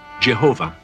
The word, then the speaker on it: Jehovah: one of the oldest passages of the Torah, celebrates their deliverance by their God, a God whose name modern scholars reconstruct as Yahweh, and many Christians pronounce Jehovah.